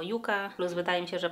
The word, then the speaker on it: Yucca: I tak, ja będę mówić na nią Yuka, ponieważ wiem, że wiele osób w internecie zaczęło mówić Yaka i mówić o różnicach między tymi dwoma słowami. Natomiast w samych spotach marketingowych Natasza mówi to jako Yuka, plus wydaje mi